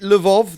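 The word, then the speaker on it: Lwów: is it Lvov that's spelled L-W-O-W? Yep. Yes, it's one of those L's with a line in it, who had family caught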